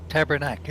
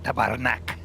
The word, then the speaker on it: tabarnak: It's not tabernacle, it's tabarnak. Yeah, it's tabarnak. And it's derived from the right inflection. And it's the right all syllable.